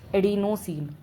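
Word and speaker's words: adenosine: This will become एडिनोसिन। ऐसे ही इसको pronounce करो।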